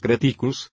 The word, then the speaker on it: creticus: Cuando decimos creticus, este mismo vocablo consta de una primera sílaba larga, seguida de dos breves, en cambio, lo que